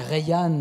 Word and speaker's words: Rayhan: allez en Iran voir, c'est Rayhan, on prononce comme ça son nom.